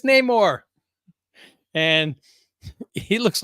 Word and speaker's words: Namor: And I don't want to pronounce it like they did in the movie, so I'm not going to say Namor. It's Namor.